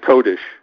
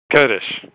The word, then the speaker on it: Kodish: i like that sweet so it's kodish kurdish is how i pronounce it yeah what did